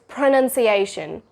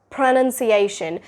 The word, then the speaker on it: pronunciation: So it's pronunciation. Pronunciation. While your lips are doing that p sound, your tongue is also raising upward and it's curling upwards to pronounce the r sound.